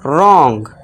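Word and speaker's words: wrong: एस के बाद हो, यहाँ फिलहाल तो आर से पहले है डब्ल्यू, तो यहाँ पे क्या हो जाएगा, हमारा डब्ल्यू साइलेंट हो जाएगा, और इसे क्या पढ़ेंगे हम, रॉन्ग।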